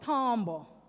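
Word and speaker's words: timbre: So another element of music is tombbo spelled timba t i m b right but it's pronounced tombo.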